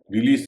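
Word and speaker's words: release: रिलीज रिलीज में भी एस का उच्चारण स होगा। चाहे वो नाउन हो, चाहे वर्ब हो।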